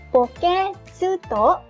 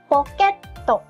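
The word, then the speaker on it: ポケット: Kita baca bukan poke tsu to, tapi poket to. Poket to. Nah, kemudian selanjutnya di sini ada cara baca panjang.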